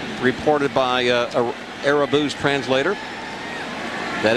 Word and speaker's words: Irabu: And before today's ball game, he announced a Rabu. So, if it's good enough for Bob, I guess it's good enough for me. Yeah, all the other Yankees are saying Arabu as well.